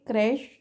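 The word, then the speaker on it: crèche: है ना यहां पर क्रैश जो है सी एच ई is pronounced S श राइट तो यह इंपॉर्टेंट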